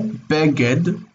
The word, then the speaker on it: beged: Segolet, you recognize the word segol, like this word beged. Beged, it's e. Segolet nouns have, in their regular form, they have accent on the next to last syllable, beged.